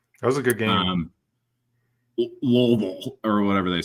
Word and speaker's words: Louisville: They just like Louisville? guttural. Like, Marbles in your mouth. Louisville. You gotta say it like you gotta say like you have chaw in your mouth, bro.